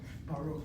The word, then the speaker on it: Baruch: How do I know that kamatz is an ah sound, not an or sound? Because if this were a short kamatz, it has to be a closed syllable. A resh is one of the 5 letters with the 4 laryngeals that cannot be doubled. So there's no dagesh hazak there. There's no shvanach and niteresh. This syllable is strictly open.